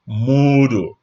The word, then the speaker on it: Moodle: Module has just one O, Module 7, versus Moodle. This one has 2 O's. So it's pronounced Moodle.